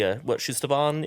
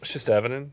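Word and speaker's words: Shistavanen: We see Shustaban in the cantina? Shistavinin? Yeah. Yes. Did you just correct him on the pronunciation of a species? Yeah. Nerd alert! It wasn't a pronunciation. He dropped a syllable.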